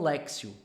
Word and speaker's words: Lectio: mandar uma mensagem e me ensinar o jeito certo para pronunciar então Grava aí ó café com lexio e alexio Divina tá bem E outra